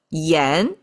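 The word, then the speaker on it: 炎: So one is called h pronounced as a h two stacking up and down that's called yen means hot right like a fire fire like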